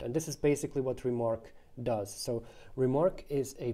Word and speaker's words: RMRK: remarks and that's why the protocol is called remark rmrk pronounced remark uh what the way